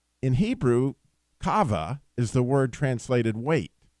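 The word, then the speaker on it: קָוָה: In Hebrew, kava is the word translated wait, which is actually Q-A-V-A, but it's pronounced kava.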